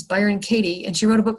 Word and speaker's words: Byron Katie: I always want to say her name is Katie Byron, but her name is Byron Katie, and she wrote a